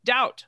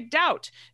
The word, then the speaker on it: doubt: riggers of orthography as to speak doubt fine when he should say doubt debt when he should pronounce debt d-e-b-t not d-e-t he clep at the